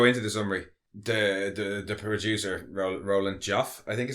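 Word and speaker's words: Roland Joffé: But before we go into the summary, the producer, Roland Joff, I think is how it's pronounced, he kind of summed it up when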